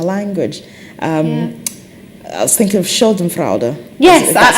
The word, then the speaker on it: Schadenfreude: I was thinking of Schadenfreude. Yes, That's how you in fact, pronounce it.